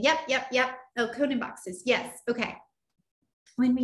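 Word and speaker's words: Elkonin: Maybe you, and this is where I say, I didn't use this in the classroom, but I did use something called Conan, that's how you say it, Conan Boxes.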